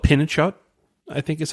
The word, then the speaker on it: pinnekjøtt: So I think it's, you know, I don't know if that really got brought over to the U.S., but it's called pinnekjøtt, I think is how you say it.